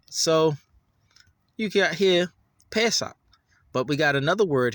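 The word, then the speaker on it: פֶּסַח: It's the short A sound. Pesach.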